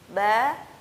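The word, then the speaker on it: ب: adalah pelafalan yang salah yang benar adalah pertemuan bibir atas dan bawah secara sempurna dan dilepaskan secara biasa saja tidak ada lidah yang diangkat dan tidak ada lidah yang ditempelkan ke atas langit-langit ba bi bu dan ingat disitu tidak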